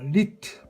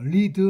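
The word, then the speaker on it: Lied: 자, 리트 발음이 이제요 두 개가 올 때는이 발음이죠. 여러분 이제 독일어 다른 수업 시간에 발음 배웠죠.이 발음이니까요 자체는 리트입니다. 리드 하면 안 되지요.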